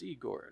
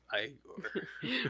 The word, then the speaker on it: Igor: Your name is Eigor. No, it's pronounced Igore.